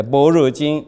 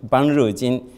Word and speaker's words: Banruo jing: Banrejin, sometimes dictionaries read that how to say Borojin or Borojin, all of them are wrong. It should be read Banrejin, because all the pronunciation is Panya, and it goes with Gandhari, Pranya.